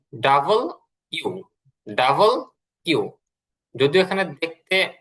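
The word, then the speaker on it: W: আচ্ছা, এরপরে আমরা পড়েছি ডাব্লিউ বা ডব্লিউ। এটা ডাব্লিউ না, ডব্লিউ না, এটা হচ্ছে ডাবল ইউ। Double you. যদিও এখানে দেখতে ডাবল ভির মতন দেখা যায়, কিন্তু এটা হবে হচ্ছে ডাবল ইউ।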